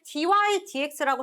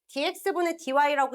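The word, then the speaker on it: dy/dx: y프라임이라고 쓰기도 하고 여기에서 dydx라고 쓰기도 해. 자, 얘는 읽을 때 분수처럼 읽으면 안 돼. dx분 dy라고 읽으면 어디 가서 무식하다는 소리 들어? 위에서부터 dy dx라고 읽는 겁니다.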